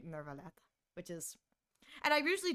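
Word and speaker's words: Neuvillette: So Lenny, they all pronounce it Neverlet, but Nouvlet himself says Nuvlet.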